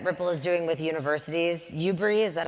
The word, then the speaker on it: UBRI: UBRI, is that how you say it?